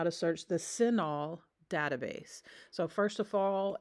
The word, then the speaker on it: CINAHL: to go to databases click the databases button sinol is spelled c i n AHL so it starts